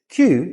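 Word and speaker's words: queue: Q is when you form a line after other people. But the word Q is just the letter Q with four words waiting in line after it in a Q.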